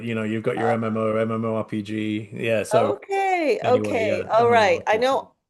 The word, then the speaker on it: MMORPG: Am I pronouncing that? MMORG? It's MMORPG.